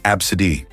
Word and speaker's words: Abcde: Some parents are getting creative with their children's names, choosing unconventional ones like ABCDe pronounced absid.